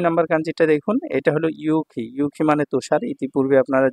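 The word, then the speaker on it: 雪: ঠিক আছে 67 নাম্বার কাঞ্জিটা দেখুন এটা হলো ইউখি ইউখি মানে তুষার ইতিপূর্বে আপনারা জেনেছেন আর এটা চাইনিজ উচ্চারণ হলো শ্বেতসু সেৎসু ঠিক আছে এটা যখন সিঙ্গেল থাকবে তখন হবে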